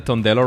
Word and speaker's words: Tondello: Gustavo, did I get the Tondello right? Is that the right pronunciation?